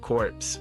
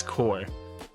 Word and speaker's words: Corps: The one I want to f The one I want to thank him for though is correcting my pronunciation of corpse when it's core.